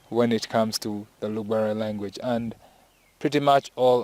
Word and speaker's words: Lugbara: Most of our colleagues from the southern part of Uganda usually pronounce it as Lugbara, but we don't pronounce it that way. We say Lugbara. So it's a glottal sound. It's from inside, Lugbara.